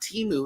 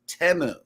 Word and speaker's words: Temu: I'm like did you hear the way they're pronouncing this place it's not teu it's temu so yeah I know that was crazy listen